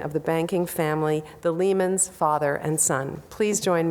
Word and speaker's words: Lehman: In this transition, the pronunciation of their names changed from Ley-mahn, the German, to Lehman which we would be more comfortable with.